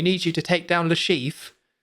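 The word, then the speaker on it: Le Chiffre: I'm assuming it's something where they looked it up and was like, "Okay, well technically that's a French name, so the way you were pronouncing it is Lashifur."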